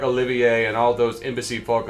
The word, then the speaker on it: Olivier: what you think but Olivier is how it's pronounced because it's French so you would not pronounce the r that's why nobody likes